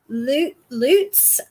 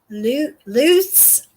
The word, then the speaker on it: Lutz: Lutes? Lutes, like it's Spanish? I don't know. Who? It's cold out here. Who's she talking about? Ronald. Ronald Lutz? Yeah. Apparently we're not pronouncing his name properly. It's loose.